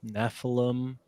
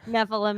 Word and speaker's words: Nephilim: Nephilim is the homunculus of 2024. It's going to be the word everyone has to get used to hearing, and the M is silent.